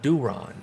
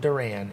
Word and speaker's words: Duran: talk about johan duron it's not duran it's duron just to help all my folks there who want to get make sure they get their pronunciations right like myself so do ron is is what i've been told and i'm going with it not duran he's been insane all